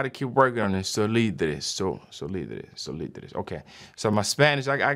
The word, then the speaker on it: Solidres: So this is a Spanish word. I went on this website just to see how to make sure that I'm saying it right for our Spanish students out there. So it's Solidres.